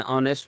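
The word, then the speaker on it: honest: से पहले an officer an ऑनेस्ट में एन एच साइलेंट है इसमें एन एफ आई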